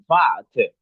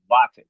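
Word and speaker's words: warte: Örneğin beklemek vatı diyoruz. Vat değil vatı.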